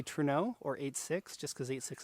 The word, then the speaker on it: Trueno: japanese i usually say truno or 86 just because 86 is easier to say in japanese it's pronounced more like toe rain that's the opposite direction to re no like toreno okay got